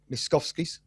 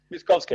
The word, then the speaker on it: Miskovsky: Let me pronounce this right. Miskovsky's Driving One of Your Cars. Miskovsky, yeah.